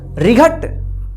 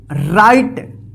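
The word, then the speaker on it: right: टी इसको क्या पढ़ेंगे रिगट या रिगट गलत हो जाएगा इसको क्या पढ़ेंगे राइट राइट म क्या होता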